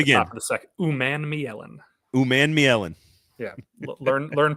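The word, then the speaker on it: Umanmielen: So Titans fans, get ready to learn that it is pronounced Uman Mielen. Princely's in my first round. I think he's in the first round. If he's there at the top of the second, Uman Mielen.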